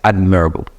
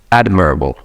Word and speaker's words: admirable: and I have able admirable no this is pronounced as admirable admirable say it admirable so this is like an